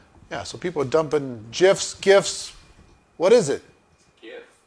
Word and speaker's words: GIF: in the I know gif keeps it like keeps it fun yeah they send emojis they send you know pitchy yeah you right yeah all right keep going G hard G for gift graphic interface it stands